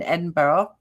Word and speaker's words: Edinburgh: I learned how to say it correctly, Edinburgh, and spit it.